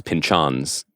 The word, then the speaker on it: Pynchon: The other thing, just to mention, One Battle After Another is inadapted because it was inspired by Thomas Pynchon's.